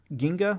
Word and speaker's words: Ginga: things of note Ultraman Ginga is how you pronounce that Ginga Ginga okay theater spectral ultra monster hero battle